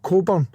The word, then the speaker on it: Cockburn: It's just that here in the UK if the surname is spelled Cockburn, it's actually pronounced Coburn.